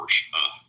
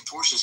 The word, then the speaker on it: Porsche: You just call me a Porsche. Because that's how it's pronounced.